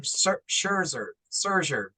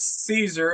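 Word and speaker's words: Szczur: I kept calling him Scherzer, because it sounds like Max Scherzer, so my brain was kind of messing up. Matt Caesar is pronounced Matt Caesar, like Caesar, Hail Caesar, Oh, a Caesar Planet of the salad.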